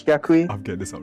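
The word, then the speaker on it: Yaqui: pronounce the tribe from it's y-a-q-u-i i think it's jaquie i'll get this up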